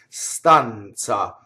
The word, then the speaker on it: stanza: have to memorize it in this case it's TZ the word for room stunts ah so it's like the word and it's like the Z and Mozart or pizza now other times you